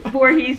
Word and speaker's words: Voorhees: Voorhees, New Jersey.